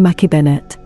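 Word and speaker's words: Mackay-Bennett: Her crew pronounced her name Mackay Bennett.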